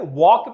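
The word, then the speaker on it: walk: में P silent है, वॉक में एल साइलेंट है, नाइफ में के साइलेंट है।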